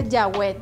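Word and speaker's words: Yahweh: estas palabras Mira la primera frase es se pronuncia yahw que significa El gran yo soy el hoy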